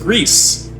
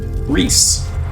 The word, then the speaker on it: Gris: I assure you, it is pronounced Gris. That is how the word is pronounced in Spanish.